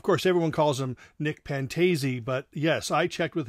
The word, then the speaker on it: Pantazi: everyone calls him nick pantazee but yes i checked with him his last name is pronounced pantazee uh so anyway he